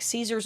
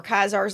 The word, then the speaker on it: Caesar: So, this looks very much like Caesar's Legion or Kaizar's Legion, however you want to pronounce it. It's pronounced both ways in New Vegas.